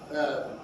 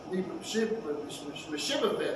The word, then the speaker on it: Mephibosheth: Mephibosheth. I've been saying it all this time. Mephibosheth. Yeah, Mephibosheth. There we go. Spit it out. Mephibosheth, son of Saul's grandson, also went down to meet the king.